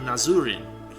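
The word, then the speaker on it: Nazrin: nazarin is that um if you actually look at the way that her name is written in Japanese it's actually nazuri and everyone shortens it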